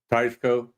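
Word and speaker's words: Teisco: kramers hondo deca and how do you pronounce it ed tiesco or tysco tysco yep stay away some people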